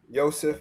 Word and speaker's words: Yosef: Yosef L.